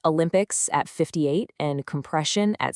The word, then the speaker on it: Olympics: Olympics starts with a hard O rather than a soft schwa. This specific error completely throws off the rhythmic anticipation of the primary stress sounds later on.